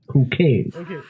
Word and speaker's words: Chuchel: Should I say Kukel? Actually, if you pronounce it in the Czech language, it will be Kukel.